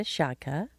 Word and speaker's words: Szczotka: Well, speaking of love, this next couple we have, Mike and Rita Szczotka, rhymes with vodka.